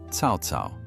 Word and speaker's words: Cao Cao: Ask 100 people in China about Cao Cao, pronounced Cao Cao.